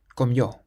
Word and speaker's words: comió: The next word has an accent on the O at the end. Comió, comió.